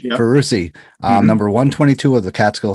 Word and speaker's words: Ferrusi: Is that how you say it, sir? Yeah, Ferrusi. Yeah. Ferrusi, number 122 of the Catskill 3,500 Club.